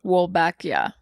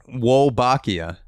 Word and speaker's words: Wolbachia: It's the pronunciation, it's also Wolbachia. It's Wolbachia. Well, just because like I'm also familiar with like the Spanish pronunciation. Wolbachia. That sounds with a Italian. bacteria. It's also Italian too.